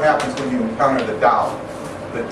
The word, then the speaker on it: Tao: when you encounter the Tao. The T-A-O, or the Chinese sometimes spell it D-A-O, but it's pronounced Tao, which is the eternal way of the universe.